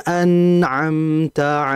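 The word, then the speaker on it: أنعمت: An'amta, ditahan dulu, bukan siratal ladzina an'amta alaihim, an'amta alaihim, atau memantulkan siratal ladzina an'amta alaihim. Ini salah, karena dia tidak memantul dan dia tidak begitu cepat, tapi dialirkan dengan sebentar saja.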